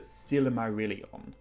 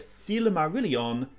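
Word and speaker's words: Silmarillion: are consistently told that the letter i is pronounced like an e so it's not isildur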